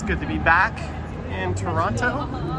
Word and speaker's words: Toronto: It's good to be back in Toronto, a city where I sometimes pronounce the second T when I say it, but not always.